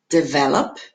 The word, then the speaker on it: develop: Então aqui eu tenho do stress no V. Develop. Management. Nossa, eu tenho ali a palavra enorme, mas quando eu pronuncio ela fica só com 3 sílabas.